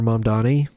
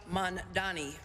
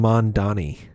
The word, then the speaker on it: Mamdani: Zohran Kwame Mamdani. I think she calls him Mondani.